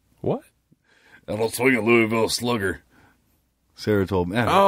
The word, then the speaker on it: Louisville: Once you get over the bridge and you head towards Louisville, I guess I'm saying it wrong. Yeah, Louisville. I'm from the north. It's Louisville.